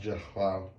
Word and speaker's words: Zahal: Kenjim's father, Zahal, pronounced Jahal, owned two small grocery